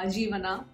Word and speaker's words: Jeevana: bad for those people who love jeevana uh jeevana yeah that's how you pronounce it so i mean because i have